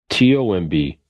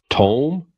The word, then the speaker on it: tomb: you know he said it's like c-o-m-b comb t-o-m-b Tome no tomb and he kind of went ran